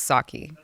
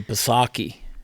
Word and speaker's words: Psaki: Japanese rice liquor sake that's just sake which would actually be how her name is pronounced I wanted to do I wanted to do pasaki that's it's uh it's